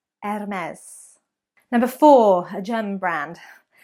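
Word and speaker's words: Hermès: number three French again it is not her mez or Hermes but there is a silent H there ms/ms and say it with a French accent or at least the best you can do M s Hermes number four a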